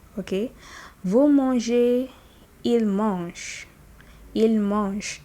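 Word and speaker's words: mangent: Vous mangez, il mange. Il mange. Don't pronounce that NT, just mange.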